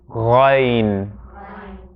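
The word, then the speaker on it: غين: and our next letter, ghayn. Usually transliterated as GH. So this one is emphatic. And a way to describe the sound, the best way that I've come across is a goggling sound.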